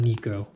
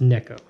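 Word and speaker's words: Neko: told me I didn't it needs to be pronounced it's not Nico its neck oh but I could have just butchered that to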